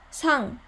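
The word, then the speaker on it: さん: But when we put a little bit more accent to sa, sang, sang, and then it means Mr. or Miss or Mrs.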